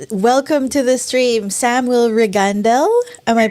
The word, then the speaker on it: Regandell: it's a Swedish thing, so Regandell is actually Regandell. yeah, so it's actually the emphasis on the second one.